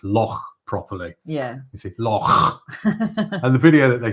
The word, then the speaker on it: loch: to another video to teach us how to pronounce loch properly. Yeah. You see, loch.